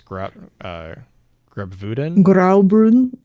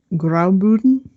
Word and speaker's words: Graubünden: I think it's Graubünden. Graubünden. The double U, like the U with the double dots.